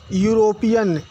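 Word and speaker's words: European: नहीं डिपेंड करता है आपने यूरोपियन वर्ड देखा इसकी स्टार्टिंग ई से है लेकिन इसका साउंड या का निकल रहा है इसलिए ए का प्रयोग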